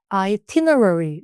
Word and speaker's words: itinerary: 그래서 발음을 잘 못 하시던데 얘들은 첫 번째 아이는 I로 읽을 거예요. 그리고 두 번째 아이는 t로 읽고 강세. 그래서 Ierary 뭐라고요 여러분들? 어, 잘했어요. 이렇게 하시면 돼요.